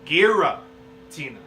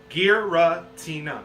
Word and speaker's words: Giratina: I always called it Giratina. Say it with me. Giratina. There's 4 syllables in that bitch.